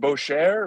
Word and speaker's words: Boetjer: Boetjer is right. It's German. It's hard to pronounce.